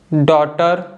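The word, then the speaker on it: daughter: ई आई और यू इन पांचों vowel letters के बाद अगर जी एच आता है तो जी एच हम नहीं प्रोनाउंस करते हैं ठीक है जैसे कि थॉट डॉटर तो आप देख सकते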